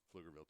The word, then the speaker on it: Pflugerville: crazy mark signals the P here as we're in a town where every F sound is preceded by silent P Pflugerville Texas obviously lions looking